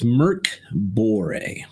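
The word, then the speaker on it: Mörk Borg: was all spelled out phonetically and how to pronounce it so yeah it's Merck bore which means Swedish for Dark Tower I believe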